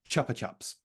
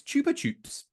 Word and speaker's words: Chupa Chups: In the UK, it is indeed Chupa Chups. You're correct. In the US, it's Chupa Chups, which means that I do some kind of half-assed transatlantic pronunciation of Chupa Chups.